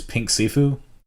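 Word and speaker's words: Pink Siifu: I think one of the highlights in the later part of the album is Pink Sifu. Yeah, that's how you pronounce it.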